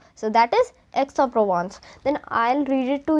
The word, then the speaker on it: Aix-en-Provence: Just the do remember the dash, that is telling us the spacing between the pronunciation of these.